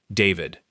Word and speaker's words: D4vd: the stage name D4VD, spelled with a four and a V and pronounced simply David.